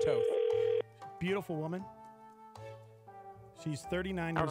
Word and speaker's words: Toth: She is pronounced Toth.